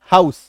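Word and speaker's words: house: बढ़े चलिए नेक्स्ट देखिए जब किसी वर्ड में ओ के बाद यू आ जाए तो इसका उच्चारण क्या होता है आऊ यानी कि आकार की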